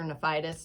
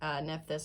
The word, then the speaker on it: Nephthys: But one of the goddesses featured in that movie was Isis's sister, Nephthys or Nephitis, depending on how you want to pronounce it. Nephthys, I think, is accurate.